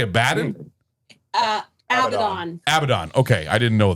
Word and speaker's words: Abaddon: Abaddon.